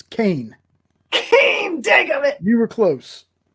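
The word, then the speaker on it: Cain: get her name wrong cassand crane is that right close it's Kane Kane it you were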